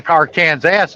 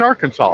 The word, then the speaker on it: Arkansas: it I said well you don't say car cans ass do you or Kansas yeah she goes no it's Arkansas I'm like yeah silent s like everybody gets it wrong you know like